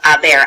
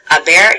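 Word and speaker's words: haber: our old friend tener a bear is to possess something so you'll notice right off about that i'm right off about the bear is irregular ok we don't pronounce the H so it is pronounced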